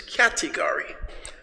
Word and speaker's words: category: The next word is category. Category has four syllables. One, two, three, four. The first syllable, cat, is stressed. Repeat.